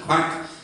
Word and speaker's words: QUAC: 2005-06 we changed our name to Queensland Association for Healthy Communities, which we pronounced QUAC.